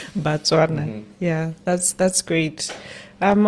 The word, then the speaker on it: Batswana: more prosperous for Americans Batswana alike. Batswana. Let me let me correct my pronunciation there. Yeah, Batswana.